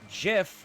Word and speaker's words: GIF: "Well, do you pronounce GIF as GIF or as or GIF as GIF because canonically that's what the creator says. GIF is now is pronounced with a J not a G and I no one